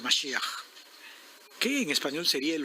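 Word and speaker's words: משיח: La pronunciación, Mashiach, que en español sería el ungido, ¿no?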